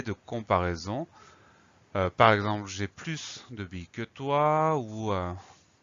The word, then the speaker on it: plus: alors le mot plus il s'écrie exactement comme et se prononce dans certaines phrases dans certains contextes on le lira simplement plus comme je n'ai plus faim mais c'est le même mot est donc parfois le son est-ce disparaît à la fin du